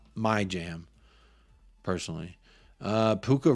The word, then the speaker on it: Puka: Personally, Puka rhymes with Fuka.